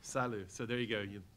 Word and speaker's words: SILU: Is that how it's pronounced? That's correct. SILU.